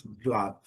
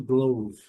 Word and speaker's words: glove: Aqui, glove, glove, a luva, letra E não é pronunciada, mesma coisa, o último som é o som do V, então pronunciamos glove. Algumas pessoas ainda pronunciam glove, mas não é o